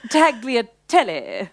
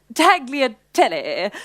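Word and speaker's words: tagliatelle: place is just Divine taglia Telly sorry it's pronounced taglia tele I just come back from Sorrento actually the Italians wouldn't dream of saying it the way you just did that was very gorgeous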